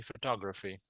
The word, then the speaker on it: photography: listen repeat after me photography photography photography photography yeah the stresses on the second syllable here okay photography right there